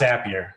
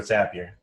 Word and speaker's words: Zapier: It's Zapier. You're happier with Zapier. Okay, good. So Zapier, we'll jump into account.